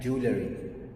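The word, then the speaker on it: jewellery: طب الكلمة دي معناها مجوهرات، بتنطقها ازاي؟ اسمها جولري.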